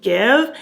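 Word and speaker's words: GXVE: you know uh yeah it's called give g x v e but it's pronounced give and i saw this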